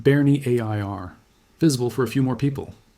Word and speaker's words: Bernières: Every like on this video keeps the story of Courseulles and Bernières, pronounced Bernie A I R, visible for a few more It does not cost anything.